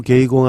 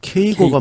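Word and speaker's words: 圭吾: 카가 카가 예 로입니다 히가시노 개이고 아니고 케이고가 맞는 것처럼네 처럼 그래서 카가 교이치로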